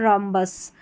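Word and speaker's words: rhombus: RH को र करके pronounce करेंगे। यहाँ पर देखिए रिदम, राइम, राइनोसर्स और रॉम्बस, तो RH को आपने र प्रोनाउंस कर दिया क्योंकि H यहाँ पर साइलेंट है।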